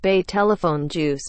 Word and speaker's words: Betelgeuse: He told CNN that Betelgeuse, pronounced Betelgeuse, been declining in brightness sharply since October, and was now about 2.5 times fainter than usual.